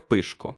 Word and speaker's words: Пишко: є родинно-побутовим чоловічим ім'ям у місцевій вимові воно звучить як пишко це ім'я утворене від